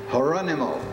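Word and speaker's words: Gerónimo: Terror into the settlers the spanias called him uh Geronimo the H the J's pronounced like an age her animal which was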